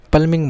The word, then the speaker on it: plumbing: हमारा प्लंबिंग होता है इसे पाल्मिंग बोलते हैं बीच में साइलेंट होता है जब प्लंबर बोलते हैं वह प्लंबर नहीं होता पाल भर होता है आपको थोड़ी सी